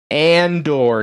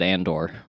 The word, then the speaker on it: Andor: it was indoor yeah apparently i i don't pronounce the a correctly because every every time i've said it somebody's been like oh yeah it's going to have ewoks in it i think everyone thinks endor is said andor what yeah not